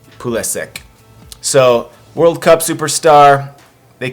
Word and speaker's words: Pulisic: Now the pronunciation of this name could be Pulisic, Pulisic, different pronunciations, but in America they seem to say Christian Pulisic.